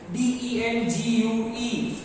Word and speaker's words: dengue: So dengue, DENGUE is dengue, U is silent there, ठीक है।